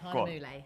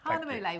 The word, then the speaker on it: Hahnemühle: Yeah, Hahnemühle. Hahnemühle we're using today. I had to write it down phonetically because I forgot it.